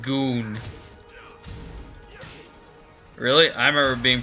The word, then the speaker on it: Gon: an expert on this subject and I've ever gone being in Tekken 3 ooh the perfect open peaceably got damn honestly best people in tech Jenner third Dan what it's pronounced goon really I remember being pronounced going the always